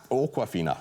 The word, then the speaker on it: Awkwafina: and other stuff like that moving on though awkwafina is how you say the name oh I